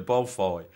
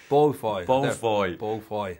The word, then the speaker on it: Beaufoy: don't know that when you initially read Simon Beaufoy, is that how you pronounce his name? The guy behind the Everybody calls him that. I love how it when it's called that. He's from Yorkshire, Beaufoy. Beaufoy.